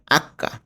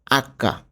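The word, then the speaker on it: acca: এইচকে আমরা কি উচ্চারণ করব ইতালিয়ানে? আক্কা, নট এইচ। ওকে? এটাকে বলা হবে আক্কা।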